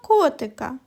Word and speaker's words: котик: котик а тепер покличемо котика котик наголос падає на звук О він і називається наголошеним і промовляють його з більшою силою і довготою Котик ось подорож добігла